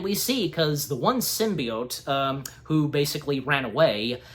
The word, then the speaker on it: symbiote: uh um Simba what are they called again symbiotes symbiotes thank you thank you am I did